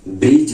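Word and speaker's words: bridge: आई दी जी देखिए दी के बाद जी है तो आपका दी क्या है साइलेंट है जैसे ब्रिज बोलते हैं हम ब्रिज ही बोलते हैं हम लोग बी बोलते हैं ठीक है उसके बाद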